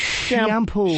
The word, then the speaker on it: Chiampou: CHIAMPOU. It's shampoo. Shampoo. Ken Fancy spelling Shampoo. of shampoo. It's shampoo because it's a radio name, and they spell it fancy like shampoo.